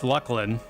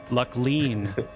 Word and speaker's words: Luclin: to say actually it's Lucklin I didn't I didn't have that luxury back in you know 200 whatever but I'm just glad I haven't heard anyone pronounce the latter half of the word differently like luckle lean or lline luck line lline or luke line or luke lean that and and but